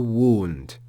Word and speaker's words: wound: sacrifice desist to wound notice that around and wound are presented to us as rhyming words and yet they don't rhyme at all in their pronunciation they they rhyme and I put that in quotation marks they rhyme in only a visual way they look similar because